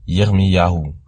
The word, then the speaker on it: Yirmiyahu: On voit aussi dans le nom de Jérémie le Yod, le He et le Vav qui donnent Yirmiyahu.